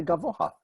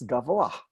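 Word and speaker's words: גבוה: radio they will say gamma ha but that's just wrong it's Guevara if you're gonna it pronounce the H it comes after the vowel even though because of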